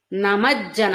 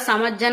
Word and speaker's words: నమజ్జన: అని పడకుండా నఖదీతి సంచన్న నమజ్జన ఇక్కడ సమజ్జన అని చాలా పుస్తకాల్లో ఉంటదండి స కాదు నమ అంటే నమస్కరిస్తున్నా అని ఇందాక చెప్పుకున్నాం కదా కాబట్టి నమజ్జన తమోగుణ నఖదీధితి సంచన్న